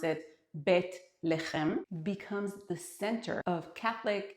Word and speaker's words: Bethlehem: Bethlehem or as we pronounce it, Betleheim becomes the center of Catholic and Protestant Christmas on December 25th.